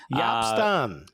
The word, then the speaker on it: Jaap Stam: Yeah, they got the wrong photo of the new head coach of FC Cincinnati, Jaap Stam. Jaap Stam. Yes, that's how you pronounce it.